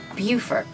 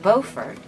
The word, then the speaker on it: Beaufort: the name of this town some folks say pronounce it Beaufort we were told that North Carolina this town is called Beaufort pronounced Beaufort and the same name for this town in